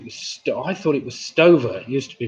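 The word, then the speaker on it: Stöve: i thought it was i thought it was stover used to be pronounced stover but when you do the research it comes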